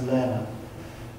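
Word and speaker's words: Lehrer: There's a great book called Imagine How Creativity Works by John, I think his surname is pronounced Lerner.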